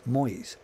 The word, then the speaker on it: Moise: was the girl of lionel moisey pronounced moyes the man who supposed